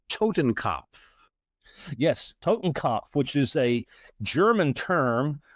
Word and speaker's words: Totenkopf: I may be mispronouncing this, so feel free to correct me, but I believe it's called Totenkopf. Yes, Totenkopf, which is a German term for death's head,